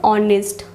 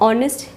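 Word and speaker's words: honest: नेक्स्ट ऑनेस्ट, इसको आप ऑनेस्ट, एच is silent in this word, ऑनेस्ट है तो अ का यूज़ करेंगे, अ वॉवल साउंड, इसलिए यहाँ पे दी ऑनेस्ट लिखा है गाइज।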